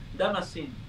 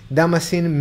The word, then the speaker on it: Damascene: It's Damascene, Damascene.